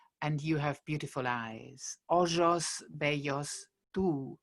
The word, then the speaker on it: ojos: Ojos, bellos, tú. We're pronouncing it ojos, not ojos as in modern Spanish.